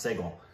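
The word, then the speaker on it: Sehgal: not n s i g a l it's pronounced seal so to see and Rick is actually not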